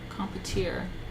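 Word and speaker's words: compotier: It's French. Competier.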